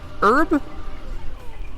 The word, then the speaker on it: herb: Herb? Herb. Discuss. Herb. I also say herb. The H is silent.